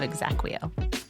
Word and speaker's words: exaqueo: I'm the founder and CEO of Exacquo. Exacquo. Spell that for the audience. E X A Q U E Oo. That's exactly how it sounds.